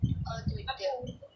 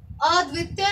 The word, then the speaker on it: अद्वितीय: अनुपम, अनोखा, अनोखा, निराला, निराला, अद्वितीय, अद्वितीय। अब देखो प्रोनाउंसिएशन में गड़बड़ है रमनीक, अद्वितीय नहीं है, अद्वितीय।